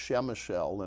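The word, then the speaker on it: Przemyśl: In the Polish language, there are a lot of consonants and very few vowels, but it's pronounced Przemysl.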